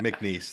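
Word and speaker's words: McNeese: MCN. There's no there's no E on the end. I mean, there is, but don't sound it up.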